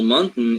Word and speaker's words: mountain: can do it so next time you pronounce for example mountain it will be easier for you to pronounce because there are some people that that have a lot of problems pronouncing this this word because they don't know how to pronounce the last part of the word which is in this case as simple as as just having a syllabic nasal uh consonant right so